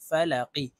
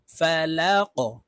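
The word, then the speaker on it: فَلَق: জবর ফা লাম জবর লা ফালা অফ জেরি ফালাকি কফকে ওয়াকফের ক্ষেত্রে সাকিন করে ফেলবো এই কফের উপরে আমরা জজম ব্যবহার করব লাম কফ জবর লাক ফালাক কুল আউজুবি রব্বিল ফালাক মিম নুন জের মিয়াও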